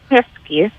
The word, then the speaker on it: Shevsky: No, yeah, my mom, she spells things very phonetically, in her Russian accent, so it's Shevsky.